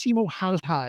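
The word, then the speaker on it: Simo Häyhä: me about Simo heha it's Simo heha it's pronounced Simo haha it's all I say is don't ever try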